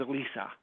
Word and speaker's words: Alyssa: It's like she spells it like Alyssa, but she pronounces it as Elisa.